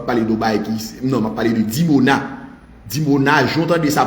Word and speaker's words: Dimona: Iran lancé sous dimona dimona comme ça se prononce dimona i m là dimona